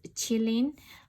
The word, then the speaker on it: Qilin: But in Japanese Kirin, in Chinese it's Qilin, and in Japanese it's become kirin.